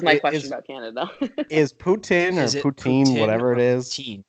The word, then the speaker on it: poutine: very interesting one um it depends on your accent so it's a French word Putin but English people can't pronounce French words so they say poutine which makes me want